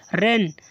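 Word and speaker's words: reign: जी है इसलिए एन को साइलेंट जी को साइलेंट कर दिया है साइन मींस क्या होगा चिन रेन देखो जी एन के पहले जी है एन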